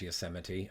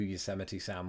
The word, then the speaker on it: Yosemite: won or at least since I learned how to pronounce Yosemite I never knew who you Semitism was when I was a kid he was just one of those that passed me by I don't know what